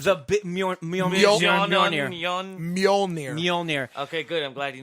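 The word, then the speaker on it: Mjölnir: We don't know how to pronounce the it. Mjolnir.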